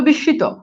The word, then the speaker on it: বিস্মিত: বিস্মিত, এই যে দেখেন এটা হবে কি অ্যাকচুয়ালি উচ্চারণটা হবে বিস্মিত, এই যে দেখেন মফালা মাঝখানে আছে এই জন্য দেখেন শয়ের উচ্চারণ দ্বিত্ব হচ্ছে।